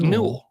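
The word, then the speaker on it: newel: it all right rhy rhymes with Jewel but new yeah so while I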